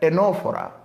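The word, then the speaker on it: Ctenophora: तापर एटा टेनोफोरा, सिने जे टेरिडोफाइटा थिला, पीटी थिला, सिने सीटी अछि, एइडे मध्य सीटा साइलेंट रहूची आको कौन कहबा टेनोफोरा तापर प्लाटीहेलमिन्थेस तापर आस्कहेलमिन्थेस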